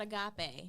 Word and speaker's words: agape: How you pronounce that? It's called agape.